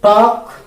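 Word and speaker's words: talk: तो टॉक, वॉक, hustle, इसमें जो है एल, ये क्या है?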